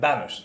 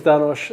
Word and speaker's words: Danosch: Hi, welcome to Crypto OGs, and we are today in the Micro Studios with my good friend Danosch. That's the right pronunciation, yeah? Danosch, yeah, perfect. Excellent. Danosch, and I'm learning every day something new.